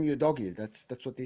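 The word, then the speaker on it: Udogie: know that for sure it's not you doggy I know should know because he watched SI so he shouldn't know all the all the all the commentators they pronounce him y doggy that's that's what they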